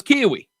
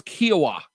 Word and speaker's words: Kiowa: I thought it was Kiwi. I always thought it was Kiwi. But then I was told yesterday, no, it's Kiowa.